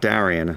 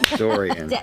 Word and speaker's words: Dorian: Not Darian, not Doriax. Dorian. Darian is how they say it in New Jersey.